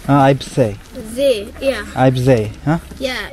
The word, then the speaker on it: Eibsee: Eibsee. Huh? They, like... Eye, You don't say see, like you see something. Eibsee.